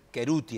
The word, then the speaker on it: Cherutti: Giménez y en realidad tendría que ser queruti el apellido mío si vos lo analizas por fonética en italiano es queruti pero en esa época